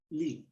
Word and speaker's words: Lie: And groups of this kind also go by the name of Lie groups, Lie. So it's pronounced Lee. It's after a gentleman called Sophus Lee, who was one of the who studied these groups.